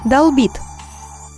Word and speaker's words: долбит: Ударение никогда не падает на корень, в том числе и в полных и кратких причастиях. Долбленный, долблена, долблено. Поэтому говорить следует долбишь, долбит, долбят.